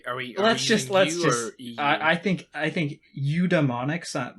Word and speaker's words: eudaemonic: So if you asked for the phonetic pronunciation, I would say eudaimonic. But it is pronounced eudaimonic. So dumbmonic, even though it is spelled daemonic.